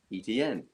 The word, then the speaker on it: Etienne: And Clemson put out literally the letters E T N. Etienne.